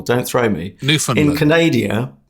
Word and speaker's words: Newfoundland: in is it newfoundland you struggle with putting the stress no it's stress on the last syllable don't throw me newfoundland in canadia pronounced canada